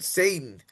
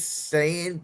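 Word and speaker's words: Sayin: and Julian Satan. Ohio State's new quarterback who the last name is Saiyan, but when you say it right, Julian Saiyan, it sounds like Satan a little bit.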